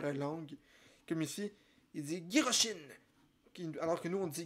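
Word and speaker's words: ギロチン: Avec Giroshin, qui est la façon que le mot guillotine est prononcé en japonais.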